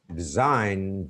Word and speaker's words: design: The 8th tip, G is silent if a word ends with GN. Design, G is not pronounced.